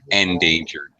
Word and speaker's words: endangered: from them good yeah pronounced the same way as danger endangered ah that a what